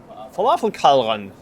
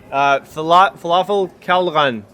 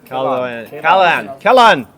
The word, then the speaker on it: Falafelkælderen: and this time it's Falafelkælderen. Did I pronounce that correctly? No. No. Falafelkælderen. Kælderen. Yes. Kælderen. That's great. Yes.